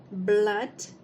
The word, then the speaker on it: blood: por exemplo a palavra Blood ok que também não é escrito com a letra u mas que tem um som curto da letra U Ok Blood Blood que